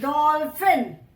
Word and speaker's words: dolphin: Then DOLPHIN, यहां पे PH है. What is the sound of PH when we pronounce डॉल्फिन? डॉल्फिन.